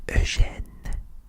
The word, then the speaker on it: Eugène: The actual pronunciation for this is Eugène. Okay, so repeat after me. Eugène.